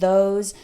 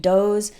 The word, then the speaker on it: those: When I hear someone pronounce these and those with a D sound, like D's and does, or pronounces think like sink, that's a giveaway.